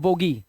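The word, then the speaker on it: bogey: जब किसी शब्द के अंत में EY दिया हो तो EY का उच्चारण क्या कर देना है, ई कर देना है। देखो अब जैसे इसे पढ़ते हैं बोगी, क्या पढ़ते हैं, बोगी।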